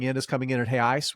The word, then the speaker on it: real: is coming in at hey Ice which is actually how you pronounce real in Portuguese sorry I'm not my